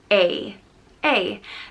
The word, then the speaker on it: Aodh: which means fire and it's just pronounced a a there are two ways to